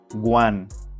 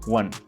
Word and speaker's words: one: Let's compare the two sounds. Incorrect, guan. Correct, one.